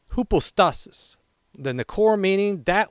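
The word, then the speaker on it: ὑπόστασις: This Greek word is pronounced hoopostasis.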